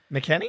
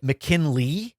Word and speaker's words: McKenna: I think I've been putting an L in his name. McKenna. McKinley is what I think I've called him on this show.